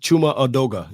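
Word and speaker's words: Chuma Edoga: Did I pronounce his name right? Yeah. Chuma Adoga.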